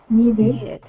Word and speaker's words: needed: How about this one? Needed. Needed. Exactly. And how many syllables does it have? 2. 2 syllables.